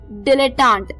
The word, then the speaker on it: dilettante: वो भी एक अच्छा वर्ड था हमारा दोस्तों डिलेटांट।